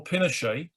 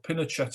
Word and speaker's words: Pinochet: and the leader of the uh army general pinochet or pinochet i think he's actually pronounced uh established a uh regime that used